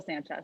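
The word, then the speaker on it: Sancious: sanchez sanchez sam yes well it's pronounced it's spelled like s-a-n-c-i-o-u-s weird it's still i think it's still sanchez sanchez okay yeah original keyboard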